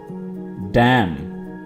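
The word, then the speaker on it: damn: बांधना टाइट करना कसना डैम डम यहां पे भी एन साइलेंट है और ये वर्ड होगा डम लर्न सफन सफन यहां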